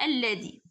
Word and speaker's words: الذي: ثلاث أسماء موصولة، موصولة الذي التي حذفت منها الألف لام رسما، الألف يعني يعني الألف يعني اللام رسما ورغم ثبوتها نطقا يعني كنطق باللام ولكن ما كنكتبهاش. مثلا بحال الذي، الذي كنسمعوا بحال نطقنا اللام ولكن ما كنكتبوهاش، الذي، التي، مثلا التي،